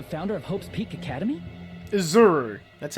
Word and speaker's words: Izuru: Izuru. That's how it's pronounced.